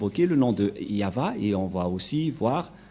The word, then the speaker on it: Yahvah: de droite à gauche mais la vrai lecture de ce terme c'est yava je vais vous apprendre